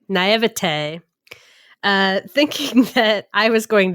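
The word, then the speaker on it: naïveté: Naivete. Naivete.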